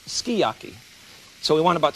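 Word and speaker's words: sukiyaki: They tell me it's skiyaki. S u k i. Y a ki is pronounced skiyaki.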